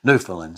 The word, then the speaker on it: Newfoundland: joked on for that so it's newfoundland so there you go